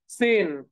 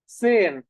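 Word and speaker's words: zehn: 10 আছে না 10 কে আমরা কি বলি সেন সেন ওকে সেন হ্যাঁ এই যে দেখেন সেন সো এটাকে হচ্ছে আমরা এখান থেকে নিয়ে নেই সেন সেন এই যে দেখেন সেন সেন তাইলে দেখেন তাইলে আমরা একক যেটা সেটাকে আগে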